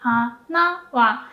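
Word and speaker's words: 花: So for odakagata, you do go up like low, high, and then when the particle comes, you pronounce the particle with a low pitch.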